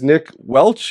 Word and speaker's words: Nick Welch: from ordinary and and uh his name is Nick Welch am I pronouncing it properly correct awesome Nick Welch and